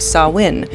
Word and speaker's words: Samhain: Halloween has roots in the Celtic Festival of sawin a festival whose spelling and pronunciation is perfectly designed to break the brains